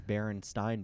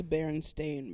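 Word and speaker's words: Berenstain: book before they uh people read them as Baron stein bears because that's how uh that's how it looked like it pronounced but then the writers were like no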